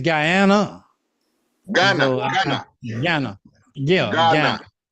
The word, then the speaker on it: Ghana: Independence Day celebrate and I hope I pronounced that right I know it's it's the g a g ha n a so if you're African please don't be mad at me because I know it's Ghana and then it's gyana